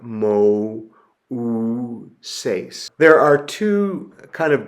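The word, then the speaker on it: Μωϋσῆς: So what you see above the upsilon is two raised dots, a diaresis, and so you would pronounce that Mo-u-ses.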